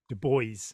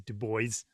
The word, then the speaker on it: Du Bois: Um, I I was fascinated by William Du Bois, and I'm told his name is Du Bois, not Dubois, as I would want to pronounce it in the Yeah, French.